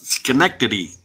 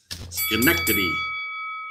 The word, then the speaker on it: Schenectady: That's Schenectady. Yeah. Schenectady. That's right, Chris. You got it. Schenectady.